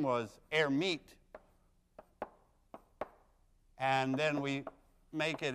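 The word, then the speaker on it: Hermite: for a guy named air meet who didn't actually pronounce the h but let's pronounce it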